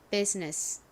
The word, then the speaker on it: business: U는 원래 이 소리보다는 우, 유 등의 소리로 주로 쓰이는데 여기서는 예외적으로 U가 이 소리로 쓰였어요. 자, 그 다음에 여기에 뒤에 Z 소리 나는 S가 옵니다. 다음 I가 오는데요. 이 I는 묵음입니다. 그래서 여기 발음이 비읍 소리에 이 소리 그리고 Z 소리가 연결된 biz 이고요.